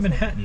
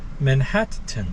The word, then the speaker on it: Manhattan: in manhattan it's not manhattan neo it's manhattan what's the difference you you pronounce each t as its own separate t there's a t in